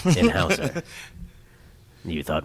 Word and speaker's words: Houzer: It's Hauser, not Hosier, not the singer. Not the singer. Like, a lot of people are like, oh, Hosier is it's Hauser.